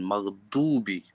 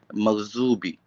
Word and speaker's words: مغضوب: in Arab countries, so they always pronounce wala dalin maghdubi, so with the voice of D. There are some school there, they are teaching maghzubi with the Z, maghzubi, like with a maghdubi, it says a maghzubi.